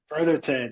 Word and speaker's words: Brotherton: have Brotherton did I say that right Brotherton yes sir Brotherton yeah man people mispronounce that a lot thanks for being on